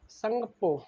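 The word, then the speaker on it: Tsangpo: संगप्पो। इसमें क्या है? टी साइलेंट है।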